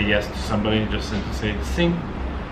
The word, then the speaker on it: sim: to pronounce but it's you don't say the m fully it's more like sing uh but a lot